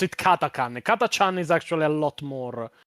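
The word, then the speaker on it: Catachan: It is technically pronounced Katakan. Hell will freeze before I pronounce it Katakan. Katachan is actually a lot more lot more badass.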